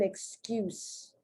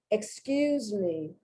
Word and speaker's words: excuse: Excuse, to have an excuse, that's a noun. Excuse me, that's a verb, and the S is pronounced like a Z.